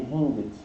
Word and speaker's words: hinged: Aqui eu li hinged, né? Mas a pronúncia correta é hinged.